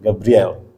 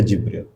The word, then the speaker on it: Jibril: Kalau dalam literatur mereka disebutnya Gabriel. Gabriel ya. Ditulisnya Gabriel. Kita membacanya Jibril.